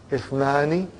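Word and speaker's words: اثنان: That Ithnani, the Hamza is Hamzatul Wasal. If it comes in the beginning, it is pronounced. If it doesn't come in the beginning, then it is assimilated.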